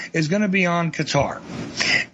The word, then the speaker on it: Qatar: My primary focus, however, is going to be on Qatar. And I do believe that is the proper way to pronounce it.